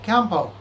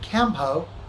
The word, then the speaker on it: Kempo: native speakers in okinawa they kind of close their lips when they're saying it and as a result the n comes out as an m so he would say